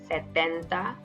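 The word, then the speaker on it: setenta: cincuenta 60 is sesenta 70 is cetenta there is only a tea change so find the pronunciation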